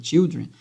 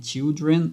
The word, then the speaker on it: children: E aqui a gente tem uma pronúncia fechada, né? Children.